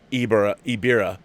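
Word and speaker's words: Ebirah: Ibira, Horror of the Deep, pronounced Ibira, Horror of the Deep, was meant for the Toho King Kong initially, hence you have Godzilla not being very Godzilla-like.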